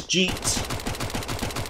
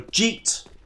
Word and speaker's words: GieTe: The way you pronounce my name is GieTe. A bit like cheat, but with a standalone G sound at the front. So GieTe.